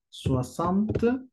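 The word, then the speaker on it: soixante: Se utiliza una X, se escribe soisante, pero la pronunciación, tenemos un diptongo, soasan, soasante o bien soasan.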